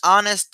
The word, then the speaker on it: honest: una H aspirada an honest girl no decimos honest honor eso es incorrecto Por qué Porque en este caso la H es muda como en español no se pronuncia A diferencia de House